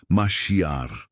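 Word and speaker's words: מָשִׁיחַ: Para entendermos a profundidade desta unção, precisamos conhecer a palavra hebraica para ungido, que é maiak, se pronuncia masiar.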